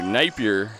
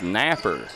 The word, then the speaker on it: Napier: Connor Napier you know Napier that's how you pronounce the last name here in Kentucky but I don't know